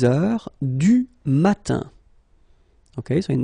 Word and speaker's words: heure: All right, so heure, you write it like that. Remember, H is not pronounced, okay?